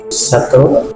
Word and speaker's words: subtle: Subtle, Subtle, Subtle, subtle. It seems that some of the subjects had mistakenly added extra sounds. For Izzati, she included the b sound in pronouncing the word,